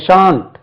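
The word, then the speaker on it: shan't: எச் ஏன் டி சான்ட் எப்படிங்க இதை உச்சரிக்க ஷான்ட் ஷான்ட் ஐ ஷால் right a letter tomorrow I ஷான்ட் right a letter tomorrow ஷலன்ட் கிடையாது பாருங்க ஃபார்ம் தேர் இஸ் நோ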